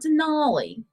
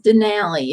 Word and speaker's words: Denali: So, Denali, and it is not Denali. It is Denali if you're talking about it in Alaska. You don't pronounce it like the truck.